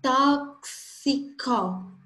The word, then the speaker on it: tóxico: Olha só na palavra tóxico. Quantas letras tem? Vamos contar primeiro. T, O, X, I, C, O. Tem 6 letras. E fonemas? Tóxico. O X aumenta um fonema aí, que é o XI.